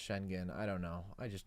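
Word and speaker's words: Şengün: been really impressed by shenon I know you say his name is pronounced shenen I don't know I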